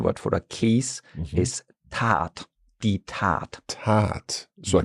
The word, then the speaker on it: Tat: Short a Tasse or like a Tat, like you're kind of stretching it out.